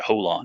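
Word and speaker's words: Jolon: whole they call it they pronounced that whole lawn it was j-o-l-o-n it was like hold on and bradley and then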